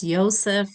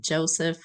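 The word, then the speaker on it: Yosef: name is Joseph airam who preferred to say pronounced ysep not Joseph abam ysep abiam was born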